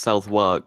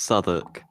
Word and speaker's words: Southwark: South and then W-A-R-K. You would think that was pronounced Southwark, but it's actually pronounced Southwark.